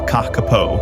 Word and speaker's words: Kakapo: The Kakapo, pronounced Kakapo, is not just rare, it's one of a kind.